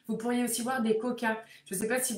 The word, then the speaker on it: quokka: totalement, Rottnest Island, vous pourriez aussi voir des kokas. Je ne sais pas si vous avez déjà vu ces animaux. Ça s'écrit Quokka.